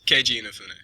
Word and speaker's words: Keiji Inafune: You're actually Keiji Inafune. Oh, wait, hold on. Shit. At the risk of sounding stupid, is that actually how you pronounce his first name? Yes, Keiji Inafune.